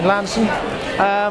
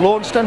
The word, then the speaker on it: Launceston: Obviously, we're delighted if anybody wants to give us a call and come up and see us in Lanston or Launceston, if you want to pronounce it like that, then we'll bake some pies for them there.